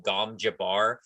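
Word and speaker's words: gom jabbar: was first written called it looks like it's written g-o-m like gom jabber but the lady pronounces it in kind of a way that makes it more like elegant and kind of more sophisticated she calls it like gom jabar and i'm like okay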